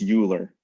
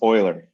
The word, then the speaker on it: Euler: biology friends are probably going to call this euler they don't know what they're talking about his name is pronounced euler he's swiss right um so um this guy